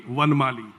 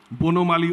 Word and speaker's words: Bonomali: If I pronounce it in the Hindi way, it will be Vanmali, Bonomali Ojha.